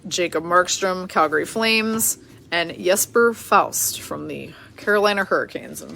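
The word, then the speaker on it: Jesper Fast: educated real quickly that his name is not pronounced just for fast but rather Jesper Faust very interesting all right we've got Curtis mcelhaney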